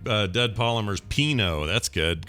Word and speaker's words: Pinot: But Pinot rhymes with Beano, so I was thinking, it's like a play on Beano.